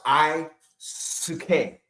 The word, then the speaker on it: Aisuke: It's Aisuke. It's pronounced Isuke. Not Isuke Asuki.